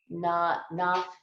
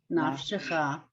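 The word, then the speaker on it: נַפְשְׁךָ: Nafsicha. Nafshecha. Nafshecha. Oh, right, because that's the sha.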